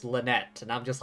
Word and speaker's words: Lynette: to be is pronounced Lynette and I'm just like oh pronouncing it English style rather than French style big news everyone the